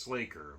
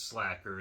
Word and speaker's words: Sla'ker: it's slash it's Faker is this pronounced slaker but I know it's not that sounds more like we're mashing up uh He-Man with Sav by the Bell or something like that but no it's slacker it's cool kind of